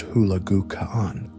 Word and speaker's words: Hulagu: He launched his brother Kublai Khan against the wealthy southern Song dynasty in China, and his other brother Hulagu Khan, pronounced Hulagu Khan, against the heart of the Islamic world, the Abbasid Caliphate in the Middle East.